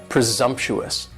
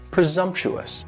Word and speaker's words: presumptuous: next is presumptuous and presumptuous has four syllables and the stress is on that second syllable and the S almost sounds a little more like a Z presumptuous presumptuous and if somebody is